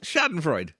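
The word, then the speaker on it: Schadenfreude: know what was it no it's sharden freud schadenfreud yeah okay i don't speak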